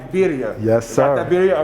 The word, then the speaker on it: birria: By the way, I already crushed that pronunciation when I was outside. B-I-R-R-I, birria.